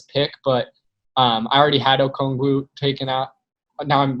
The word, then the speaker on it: Okongwu: Obviously, like, that can't decide him being at this pick, but I already had Okongwu taken out now I'm like very paranoid about how I'm pronouncing it. Yeah, Okongwu.